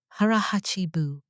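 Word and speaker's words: hara hachi bu: The first thing, hara hachibu, pronounced as hara hachibu, meaning eating until you are 80% full and then stopping, not out of discipline, out of biology.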